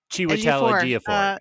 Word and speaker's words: Chiwetel Ejiofor: And then she's like, flirting with, I can never remember how to pronounce his name correctly. Chiwetel Ejiofor.